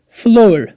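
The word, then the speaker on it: flour: فلور یا ځینې خلک یې فلاور هم تلفظ کوي، خو اصلي تلفظ یې فلور ده.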